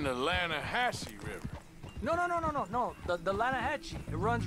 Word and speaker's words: Lanahatchee: The Lanahatchee. It runs right near here. Yeah, but it's pronounced Lanahatchee.